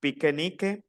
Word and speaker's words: pique-nique: Attention à la prononciation. Pique-nique. Un pique-nique. L'écriture pique-nique.